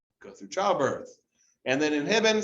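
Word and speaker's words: inhibin: through childbirth and then inhibit sounds like the word inhibit just like the the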